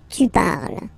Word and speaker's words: parles: So you've got the two first forms, you pronounce them the same way. You write them differently, of course, because you get E here, and then you've got E and S, okay, but then phonetically they are the same.